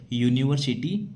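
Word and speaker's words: university: इसमें पहला अक्षर स्वर है। लेकिन जब इसको पढ़ते हैं हम इसको बोलते हैं तो इसमें किसकी ध्वनि आती है? य की ध्वनि आती है। यूनिवर्सिटी बोला जाता है।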